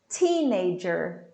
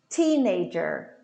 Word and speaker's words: teenager: it's silent talk talk teenager teenager the stress falls in teen teenager teenager total